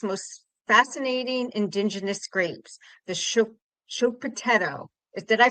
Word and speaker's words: Schioppettino: So the right pronunciation is very difficult. It's Schioppettino.